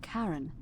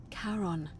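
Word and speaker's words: Charon: it's just as you described it, only your pronunciation is a little off. The name you heard wasn't Karen. It was C H. I knew it. O N. As in Karon, the fairyman of the dead.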